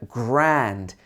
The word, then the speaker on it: grand: So the next word is the word grand. And this is actually spelled the same as the French word grand, grand or grand. But this is not made in the back of your throat. It's made in the middle of your mouth with your tongue in the middle.